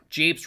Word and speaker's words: japes: Japes rhymes with grapes?